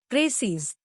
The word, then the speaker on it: précis: Précis. The word précis, pronounced précis, is a noun derived from the French word préciser, which means to specify or to make clear.